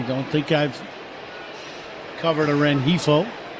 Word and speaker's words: Rengifo: I don't think I've covered a Rengifo. Rengifo. G is silent.